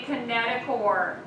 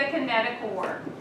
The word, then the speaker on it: kinetochore: chromatid called a metaphor remember spell spell chore that is pronounced course into what that microtubules are going to connect to on each sister chromatid so microtubules are going to connect do the kinetochore heat sister promises and